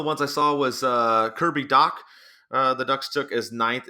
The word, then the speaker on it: Dach: But one of the ones I saw was Kirby Dach. The Ducks took as 9th in some of the mock drafts. The last name is pronounced Doc, even though it's D-A-C-H.